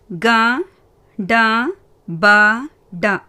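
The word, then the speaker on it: कटपट: டா மறுபடியும் பார்த்தீங்கன்னா வியஞ்சன். ஸோ இட் அந்த மாதிரி ப்ரொனவுன்ஸ் பண்ணணும். கட்பட். கா டா பா டா கட்பட்.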